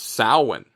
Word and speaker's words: Samhain: You were never saying it right to begin with, and then people are like, it's actually pronounced Samhain.